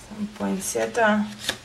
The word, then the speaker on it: poinsettia: some deer apparently all males but for ya poinsettia that's how you pronounce it and never know and look bunny